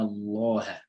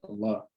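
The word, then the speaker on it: الله: Lam in the word Allah, Inna Allah. So Lam will have a heavy sound, a heavy pronunciation structure there. Or if a kasr comes before a Lam in the word Allah, Bismillah.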